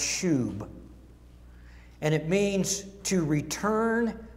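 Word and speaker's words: שוב: The Hebrew word for restore is, I think it's pronounced shub.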